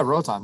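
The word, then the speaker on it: Roatán: Actually, just the island, the Roatan, how you say it? Yeah, Rotan.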